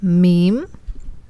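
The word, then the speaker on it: میم: Now we can go to our next one, which is Meem. Meem. And it is very similar to the English meme that we really like.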